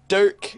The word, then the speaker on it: Dirk: So this has been Midnight Podcast interviewing Dirk, even though I don't say his name right. No, it's okay. Can say Dirk like the Irish knife.